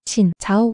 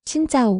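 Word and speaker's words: Xin chào: 신 자오 아니에요. 짜예요. 신짜오.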